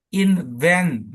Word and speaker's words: invent: Kemudian invent. Nah, van-nya ini yang dominan ya, paper.